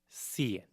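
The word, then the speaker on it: cien: When you get to 100, 100 is cen. Cen 100 is a very unique number because it's the only number that is pronounced and um say it as cen.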